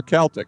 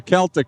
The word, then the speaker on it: Celtic: And And I always thought that Celtic was someone like Larry Bird. Mhm. And the correct pronunciation is with the hard sea or Celtic.